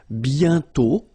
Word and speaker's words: bientôt: And then bientôt, okay? Remember you put this accent circonflexe but you don't write it. You write it but you don't pronounce it. And then the final T is not pronounced.